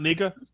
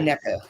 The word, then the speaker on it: NECA: We still talking about Nika? Yeah. NECA, say it right.